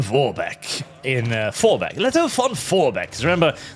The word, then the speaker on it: Vorbeck: Leto von Vorbeck. Because remember, the Germans don't pronounce the V as an F.